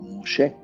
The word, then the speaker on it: Moshe: Obviamente que está haciendo referencia a la ley que llegó por medio de Moisés, o Moshe, como se pronuncia su nombre hebraico.